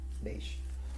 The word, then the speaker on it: beige: you say it it's in beige or yeah beige so actually I bought this this one this